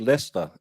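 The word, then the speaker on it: Leicester: because they just say, "No, we're going to call it Lester and spell it Lchester.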